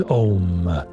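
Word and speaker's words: Aum: The sound is Om, pronounced as it sounds and spelt A-U-M.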